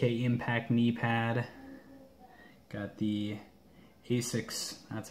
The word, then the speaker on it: ASICS: Got the Asics, that's how you say it, gel too.